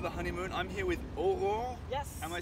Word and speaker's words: Aurore: I'm here with Aurore. Yes. Am I saying it right? Yeah, You perfectly. can tell me the truth. Aurore?